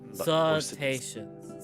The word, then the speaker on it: cetaceans: Cetaceans.